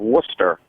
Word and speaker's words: Worcester: The area I come from originally is up in the Boston area, a town called Worcester. And down here in North Carolina, when the newscasters discuss Worcester, they call it Worcester.